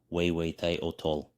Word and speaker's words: Huehueteotl: The god Huehueteotl pronounced Huehueteotl, Huehueteotl.